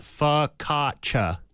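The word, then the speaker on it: focaccia: It's pronounced fakatcha.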